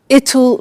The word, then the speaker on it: it'll: I said tomorrow it'll be cold. You notice how it will becomes it'll. It'll. Strange pronunciation, yeah?